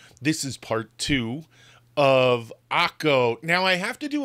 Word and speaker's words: Akko: Now, Acre is the anglicized name for Akko. So during the Crusades, Akko became Acre because, well, they really couldn't pronounce it. I don't know. Akko, not that difficult.